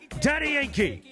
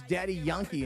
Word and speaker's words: Daddy Yankee: Well, because in Spanish it's not Yankee. They don't say it like that.